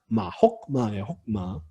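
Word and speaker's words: חכמה: 쉐바는 묵음 쉐바고요. 혹마예요.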